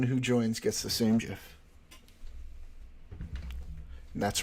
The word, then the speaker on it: GIF: joins gets the same GIF that's right I say it with a with a soft with a soft G sound fight me uh sleepy